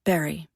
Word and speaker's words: Barre: Most locals pronounce it Barre, though there's a small faction of lifers who insist it rhymes with fury.